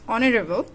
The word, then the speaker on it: honorable: Here is honorable, not honorable. It's honorable. The pronounced is like o, then we will use here an, not a.